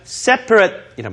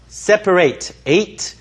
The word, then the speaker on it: separate: 앞에 또 뭐가 붙었어요 separate이란 말이 붙었죠 자 동사로 다시 한번 말씀드리지만 separate separate 이렇게 발하 되고 형용사로 쓸 때는 separate separate 이렇게 해서 이렇게 발음 하셔야 되죠 스라는 건 어떤 뜻입니까